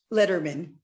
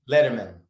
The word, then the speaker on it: Lederman: is that pronounced correctly letterman letterman uh as in david but without the extra d yes and i have